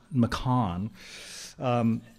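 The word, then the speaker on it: McCahon: New Zealand painter Colin McCain, how do you pronounce his name? McCann.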